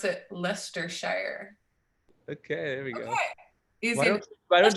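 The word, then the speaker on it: Leicestershire: Frank oh jeez all right Wise Guys pronounce it lestershire okay we go why don't you just spell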